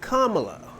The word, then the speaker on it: Kamala: We'll say her name right, Kamala.